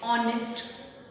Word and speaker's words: honest: honest में क्या h की साउंड आ रही है? नो, h की साउंड नहीं आ रही है, बल्कि h साइलेंट है. किसकी साउंड आ रही है? o की साउंड आ रही है. o इज a vowel sound, right?